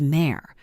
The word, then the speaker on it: Mare: In private, I was Mare, pronounced like the animal, a nickname that used to sound tender and lately sounded like an instruction to move.